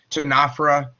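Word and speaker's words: Ctenophora: The C is silent in both of those words. Tenafha and Nidaria.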